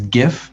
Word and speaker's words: GIF: just say just i the english would traditionally make that a hard g sound before the eye